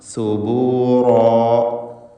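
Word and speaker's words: ثبورا: റാ തഫ്ഖീം ചെയ്ത് ഉച്ചരിക്കുക, അതിൻ്റെ അലിഫിലും തടിപ്പിക്കൽ വേണം. സുബൂറാ.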